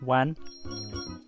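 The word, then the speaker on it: ワン: Did you know that in Japan, woof is pronounced wan?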